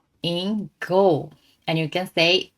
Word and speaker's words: さ: The first one is sa. S plus A. Just you can say sa. Okay? You can say it like the a in car.